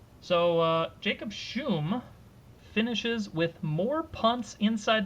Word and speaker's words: Schum: Jacob Schum, is that what we said his last name is? Yes. Correct pronunciation on the last name. So Jacob Schum finishes with more punts